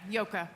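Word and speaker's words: Joke: okay you did yeah it's spelled j o k which was a difficult name to immigrate to the United States with but uh it's a very Dutch name yeah yoka I have to credit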